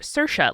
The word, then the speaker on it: Saoirse: I heard Saoirse Ronan, by the way, say that her name is pronounced Saoirse, like inertia.